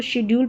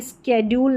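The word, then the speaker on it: schedule: इसको शेड्यूल पढ़ेंगे। स्ेड्यूल नहीं स्ेड्यूल नहीं शेड्यूल। शेड्यूल करके इसका उच्चारण हो रहा है।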